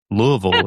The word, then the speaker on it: Louisville: Yeah, that's the right way to say it. Everybody outside of this area says it the wrong way, but but you would probably know it if you don't live here as Louisville, but it's that's that's not